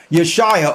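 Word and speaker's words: Yeshua: why is this important yeshia or whom some say his name is jesus even though there was no jays back then but for the sake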